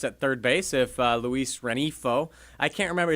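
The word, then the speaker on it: Rengifo: third base if Luis Renifo, I can't remember, is that how Jeff pronounced it? Because his name is spelled phonetically Renigfo. But I believe you pronounced it Renifo? Renifo.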